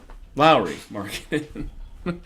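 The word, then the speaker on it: Lauri: Martin is still um sorry I keep calling Lori Mark and it's a Lowry marketing I feel really bad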